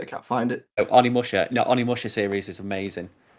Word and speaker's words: Onimusha: on Resistance, but they did do work on Omnishima, the HD collection. Yeah. so I can never pronounce that one properly. It's probably why I've never played it. I can't find it. Oh, Onimusha.